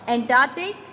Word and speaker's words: Antarctic: Atlantic and Antarctic, this sounds somewhat the same, but it is not. Atlantic. A-T-L-A-N-T-I-C, Atlantic. Now Antarctic.